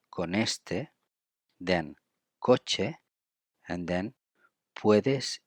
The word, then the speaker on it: con este: And in terms of pronunciation, we put together con and este because it's N and E. It's going to be con este, then coche, and then puedes ir, which is puedes ir.